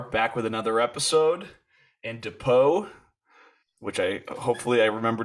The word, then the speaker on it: Depau: here we are back with another episode and depot which i hopefully i remember to pronounce that correctly uh you want to introduce yourself for everybody uh sure my name's dapo originally from bountiful utah like north salt